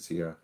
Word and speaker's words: Sierra: And I am pronouncing her name right, by the way. Everybody thinks I'm missing it, but yeah, she pronounces it Sierra.